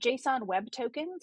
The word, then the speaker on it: JSON Web Token: Called JSON Web Tokens. We abbreviate that JWT and we pronounce it JOT just to make it easier